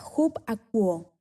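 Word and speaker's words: ὑπακούω: Son la palabra upaku, 52:19 en la Fuerte Concordancia, pronunciada hub-akuo.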